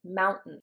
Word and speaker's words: mountain: Mountain. When I say the word mountain, it's I don't say the T.